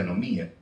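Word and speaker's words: ἀνομία: anomía ese abía abía ese abías escribe se pronuncia anomía qué viene a ser el desprecio por las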